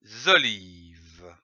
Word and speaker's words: olives: Les olives. Ici, attention, à olive, on ne prononce pas le S final.